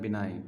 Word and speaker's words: benign: ठीक है, इसका प्रोनाउंसिएशन क्या होता है? बिनाइन, BENIGN।